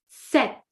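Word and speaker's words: sept: We do not pronounce the P. So, it is set. Imagine like the English word a set like a set of tennis for example.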